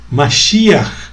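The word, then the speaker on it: משיח: Que em língua hebraica se pronuncia Mashiach, tá?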